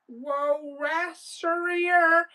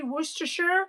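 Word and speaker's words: Worcestershire: They're like when they're putting it in recipes, they don't know how to say um worster shire sauce. It's spelled worster or worstershire depending on your accent. But they're like worester wester like they cannot say woroosher or worchester like depending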